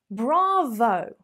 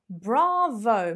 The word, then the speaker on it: bravo: stolen from the italians bravo bravo make sure you've got a bit of a posh accent with the r going on there bravo bravo obviously if